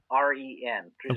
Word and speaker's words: Prizren: I'm not going to try and pronounce these. Prizren. Prizren.